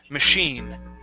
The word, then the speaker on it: machine: word here is machine with a stress at the end of the word machine machine good now notice class the CH in this word makes an sh sound okay machine okay um